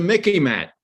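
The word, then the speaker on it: MICIMATT: It's the Mickey Mat. To remember it, it sort of rhymes with Mickey Mouse.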